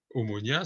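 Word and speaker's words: Ομόνοια: qu'on appelle à vous en france et omonia omonia c'est la prononciation de chrome mono il ya longtemps dit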